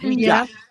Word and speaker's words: Ouija: It's pronounced Ouija. It's from the word yes in France and ja from the word yes in German. So, it's Ouija.